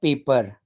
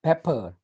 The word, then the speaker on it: pepper: e double p er not paper it's pepper pepper pepper black pepper